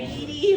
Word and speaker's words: Edie: Uh, last name Edie rhymes with um, erectile dysfunction.